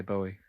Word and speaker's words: Bowie: sounds all right so do you guys pronounce it boy or Bowie well he accepts both apparently because he was asked to Michael Parkinson uh how it was and he said uh that it's it's both because he's made it up himself anyway and his dad was from Yorkshire so his dad would have probably pronounced it but some people say Bowie who's that From Doncaster